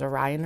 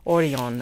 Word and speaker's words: Orion: also had oron um I thought it was Orion originally and then the ladies like no no no oron and I'm like okay that makes more sense um it is spelled like Orion though if you're like reading it in English and it was out